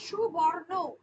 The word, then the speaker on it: স্বর্ণ: স্বর্ণ এখানে দেওয়াই আছে বটা লুপ্ত হয়ে গিয়ে এখানে যুক্তাক্ষর স্বর্ণ হয়ে গেছে ব এর উচ্চারণটা হয় না এইযে সুবর্ণ উচ্চারণটা করেছিলাম বটা ছিল বটা উচ্চারিত হচ্ছে না স্বর্ণের ক্ষেত্রে তারপরে যেমন হচ্ছে নারিকেল